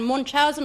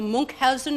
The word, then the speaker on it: Munchausen: how do you pronounce The it? Adventures of Baron Munchausen or Munchausen, it depends where you come from.